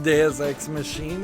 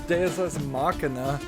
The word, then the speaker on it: Deus ex machina: It's not pronounced machine, Deus Ex Machine, it's Deus Ex Machina.